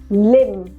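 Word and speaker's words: limb: so again B is silent all right लिम silent B डम डम मतलब कि यू नो कोई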